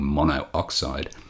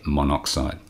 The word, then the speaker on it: monoxide: and not carbon monooxide what we do is Drop The Vow of the prefix if the element also begins with a vow it's really of pronunciation and so because oxide begins with a vow rather than saying monooxide we say monoxide listing a couple more